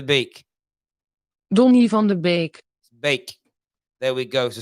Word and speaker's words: Beek: pronunciation donnie van der beek see we say beak but the dutch pronunciation listen don't live on the bake don't even the bake don't leave on the bake bake there we go so stop calling him